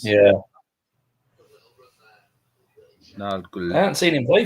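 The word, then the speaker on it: Nørgaard: Yeah, Norgard. Or Norgul or whatever it is. He actually says it in these the video clips of how they pronounce their names. Yeah. Norgul.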